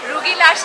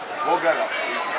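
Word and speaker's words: rugelach: Rugilash nahi hai ye. What is rugilash? Rugilash. Rugala. Rugala. Not here. Brown bread. Rugala. I've been saying it wrong.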